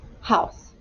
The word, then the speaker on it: house: house house all right starts with h and then o u makes the sound of that would be an s and here's the tricky part it has a silent e on the end house h-o-u-s-e house all